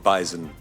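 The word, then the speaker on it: bison: animal that is called bisen it is it does have a z I agree with the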